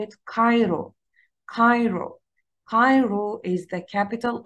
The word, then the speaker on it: Cairo: But please don't say it Cairo. حدش يقولها Cairo. You have to pronounce it as a qaf, qaf sound in Arabic.